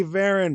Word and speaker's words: Varon: as a legend her name is ven my friend how are we doing today oh